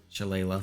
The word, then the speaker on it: shillelagh: And I'm going to do Shillelagh, or however you pronounce it. Shillelagh.